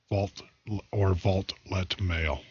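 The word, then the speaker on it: Vaultlet Mail: They make a product called Valet Suite, Vault-Let Mail. It's getting late, getting tired. Vault-Let Mail. It's all one word. It's spelled VAULT, Vault, LET, Mail, MAIL.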